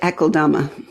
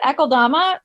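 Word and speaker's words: Akeldama: while so help me understand how to perfectly pronounce Lord eama that's how I say it eama so it's Aramaic I think originally in origin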